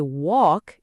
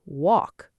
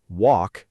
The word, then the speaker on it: walk: Mistake number one, pronouncing the l in words like walk and talk. Oh, I hear this constantly. People say walk instead of just walk. The correct way is simply walk and talk with a